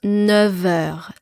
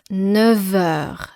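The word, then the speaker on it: neuf heures: 9h 9 et heure on prononce 9h 9h comme s'il y avait un V à la place du f 9h pendant sa pause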